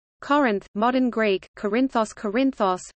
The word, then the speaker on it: Κόρινθος: Corinth, modern Greek, Corinthos, Corinthos, pronounced Corinthita os, listen, ancient Doric Greek, Erinthos, Corinthos, is an